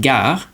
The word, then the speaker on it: gare: All right, moving on to the other pronunciation of the G is G. So for example, just like in English, for example, the word gare, Gare.